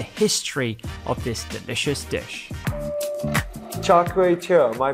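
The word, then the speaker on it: Char Kway Teow: Char Keow Teow, am I pronouncing that right?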